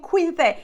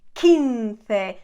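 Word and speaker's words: quince: lot of people saying Quinte it's not Quinte it's kinfe that's how we pronounce the Q everywhere we don't pronounce the U and now we go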